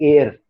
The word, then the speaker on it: heir: बादशाह की, किंग की, उसको का प्रोनाउंसिएशन है एयर, हेयर नहीं है, एयर, एयर। तो इसीलिए इसके अंदर लगता है एन। The king did not have an एयर। बड़ा फनी सी बात है कि एयर मतलब क्या, AIR वाला एयर नहीं भैया, इट इज HEIR।